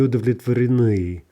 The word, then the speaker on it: удовлетворены: Они, plural, не удовлетворены. Не удовлетворены. Right? Lots of syllables before we hit that stress at the end of the word.